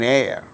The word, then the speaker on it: heir: For instance words beginning with a silent H in the words hour, an honor, an honest man, an heir, an honorable man. In all these cases, these words begin with H, which is a consonant